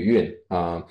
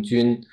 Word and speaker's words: 均: 军或中旅韵不过我有时候我就是故意把它读成军，因为我